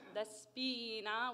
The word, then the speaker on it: Despina: one we've got is despina pronounced the spina with a very closed very bright e i'm so proud all